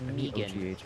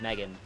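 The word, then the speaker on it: Meoghan: m e o g h a n um pronounced mean instead of Megan um but um anytime that she tries to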